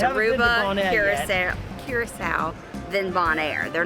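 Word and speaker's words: Curaçao: That is the proper pronunciation, correct? Yes. Curacao. Curacao.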